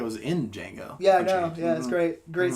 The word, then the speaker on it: Django: you know the original Django was in Django yeah yeah that's great great scene the D is silent I know I know